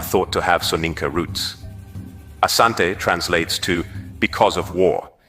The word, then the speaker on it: Asante: The variant name Ashanti emerged from British reports, where the pronunciation of Asante was transcribed as Ashanti, reflecting how the British heard and interpreted the word.